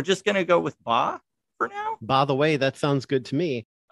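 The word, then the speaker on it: Bá: I think that is correct because you could say it like BA or some, other vowels in there, but I think in Portuguese it'd actually be Ba.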